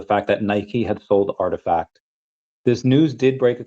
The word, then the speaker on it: RTFKT: The company last month quietly sold Artifact, pronounced Artifact.